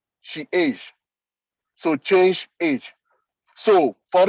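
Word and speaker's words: chage: e c h a g e is is pronounced she is so change age so for instance you can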